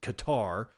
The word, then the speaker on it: Qatar: As in, well, other people pronounce it Qatar, but gutter, I think, is the most reasonably pronounceable word.